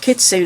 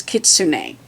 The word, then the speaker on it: Kitsune: It's Craft Kitsune. And my daughter came and said, well, the Japanese pronunciation is Kitsune, but the American version is Kitsune.